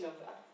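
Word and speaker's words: Knova: So my name would be Nova with a silent K.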